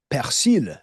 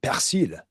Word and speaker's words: persil: Okay, so the word for parsley, persil in French, persil.